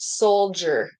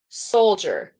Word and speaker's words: soldier: have thought of because the D like the r isn't after it but you're right soldier soldier not soldier soldier soldier and then